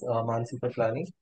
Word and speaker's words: Mansi Piplani: Mansi Piplani. Am I pronouncing that right?